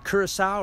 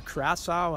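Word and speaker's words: Curaçao: We're here in Curacao, or Curacao, I've heard it pronounced both ways.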